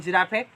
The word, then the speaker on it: giraffe: Like giraffe, in giraffe we don't pronounce double F. At last only we pronounce F.